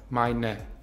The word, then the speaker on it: meine: Hier sagen wir das E als E-schwa am Ende, also als meine.